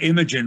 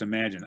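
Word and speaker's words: Imagen: the imagine imagine records it looks like imogen records but it's pronounced imagine i am i i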